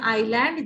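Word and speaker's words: island: इस शब्द आइलैंड में की स्पेलिंग में आप देख पा रहे हैं आईएस ए एन डी एस लिखा है लेकिन इसे हम करते हैं आयरलैंड जिसमें कि इसका उच्चारण नहीं किया जाता तो चाचा जी ने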